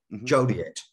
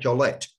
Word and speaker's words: Joliet: get it uh right Joliet I wasn't even close you know that because she had Gillette I was doing that thing where the French wouldn't pronounce the T at one point and